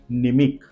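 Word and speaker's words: mnemic: निम second word है निमिक second word है निमिक स्पेलिंग देखिए एम एन ई एम आई सी यहां पर भी हमने एम को पढ़ा नहीं है डायरेक्ट निमिक उसका मतलब होता है स्मृति या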